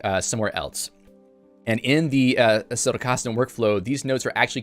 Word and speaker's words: Zettelkasten: So anyone says the Z in Zettelkasten is pronounced more like a TS, like a Zettelkasten.